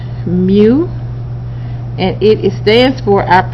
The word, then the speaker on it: mu: this information here we have this symbol mu pronounced mu mu okay it's what we call our population mean